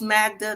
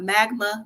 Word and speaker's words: Magda: season Joe and Magda it's Magda not magma not Magna whatever he was trying to